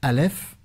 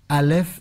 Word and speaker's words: Aleph: Et les Hébreux disent que c'est parce que Aleph est un mot silencieux. Vous savez, Aleph, si vous voulez le prononcer, vous ne faites pas comme en français. A, vous faites A. Vous le prononcez avec le souffle.